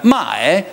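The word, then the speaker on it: 卖: mae che abbiamo visto, si pronuncia con un accento più grave, mae, e ha simbolicamente sopra il carattere il numero 10, quasi identificare che la nostra vendita la amplifichiamo 10 volte.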